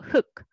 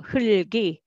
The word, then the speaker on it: 흙: Its meaning is soil, and so it is the second one pronounced. So 흙, 흙. However, in sentence reading, you read them all. So 흙이, 흙이.